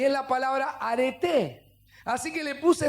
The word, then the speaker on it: arete: En realidad este es con acento en la E, ¿no? En la E final.